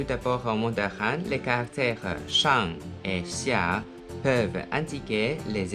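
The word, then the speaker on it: 山: Il est prononcé en mandarin shan, shan, et en japonais yama pour kunyomi, yama. Ensuite, san pour onyomi, san. Faites attention que la prononciation du mandarin est différente de celle du japonais. Shan, san.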